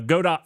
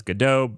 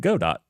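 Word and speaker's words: Godot: God do first um or some people pronounce it as gdau based off of the I believe there's like a some some history that some group of people believed in a God gdau I don't know that history well obviously um so thus I pronounce it God do um anyhow that being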